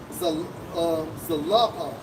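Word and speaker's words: זלפה: term um Zafar in in the Hebrew strongs AG 2153 pronounced as zapa zapa now this this what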